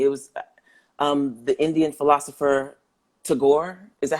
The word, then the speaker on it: Tagore: It was the Indian philosopher Tagore. Is that how you say his name? Yeah, Tagore.